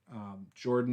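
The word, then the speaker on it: Jorphdan: Jordan, the PH is silent. The PH is between the R and the D in case you're curious.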